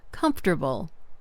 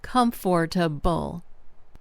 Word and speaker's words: comfortable: For example, the word comfortable often sounds more like comfortable instead of comfortable.